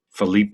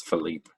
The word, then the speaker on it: Philippe: I don't think you pronounce the E at the end in Felipe. I think it's Philippe.